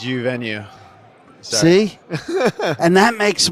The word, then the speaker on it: Uvenu: Did I pronounce it right? It's U venue.